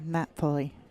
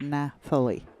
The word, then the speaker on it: Nathalie: She is French, Canadian, so it's Nathalie. You pronounce the H. No, you pronounce the H. No, they do. So it's Nathalie.